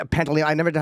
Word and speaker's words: Pantoliano: different part, and Joe, how do you say Pantoliano? I never know how to say his name. Joe Pantoliano, Pantoliano.